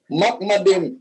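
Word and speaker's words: מחמדים: niyo at hebre pronunciation at hebre pronunciation Mak madim hindi Muhammad Next question Thank you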